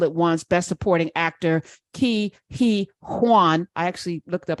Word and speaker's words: Huy Quan: Huy Quan.